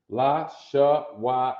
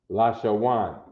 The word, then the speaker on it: La Shawan: uh lasher one because when you connect the letters the second character right in the connection gets what's called a soft sound okay a soft sound